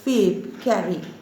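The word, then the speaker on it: Phoebe Cary: b e p h o e b e fave carry c a r y the spelling is p h o but you have to pronounce it as fabe carry faith carry she was an american poetess and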